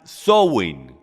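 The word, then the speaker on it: Samhain: comienza con una festividad de origen Celta llamada zowin se pronuncia software OK entonces zowing es una celebración antigua Celta que viene de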